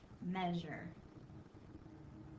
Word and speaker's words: measure: like this m a we have a silent a and then we have that ending s u r e it doesn't sound like s u e that usually is the word sure meure but we it almost makes like a z sound measure all right go